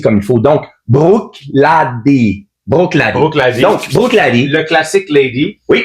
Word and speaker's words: Bruichladdich: Un très beau produit encore une fois de la série Brookic.